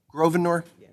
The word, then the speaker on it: Grosvenor: Grosvenor, would you pronounce it for me, please, your last name? Grosvenor?